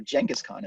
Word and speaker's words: Genghis Khan: go back to Genghis Genghis Khan or jenga's Khan as I think people in our more correctly apparently pronouncing his name but I don't believe